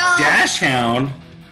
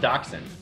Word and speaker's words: Dachshund: Dash Hound. I got that's 2. it's pronounced Dachshund. Oh, Dotson.